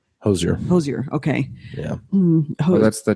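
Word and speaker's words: Hozier: No, but I just looked it up recently, and her performance with looks like it's spelled Hoosier. Hosier.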